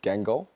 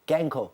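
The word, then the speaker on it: Guingamp: can but I can try we call it gang go but it's about Queen Queen yeah we all say that but it's pronounced gank or gank oh yes I want to see closely why are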